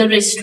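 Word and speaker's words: wrist: है ही wrapped the रिस्ट वच रिस्ट में डब्लू साइलेंट है रैप्ड में भी डब्लू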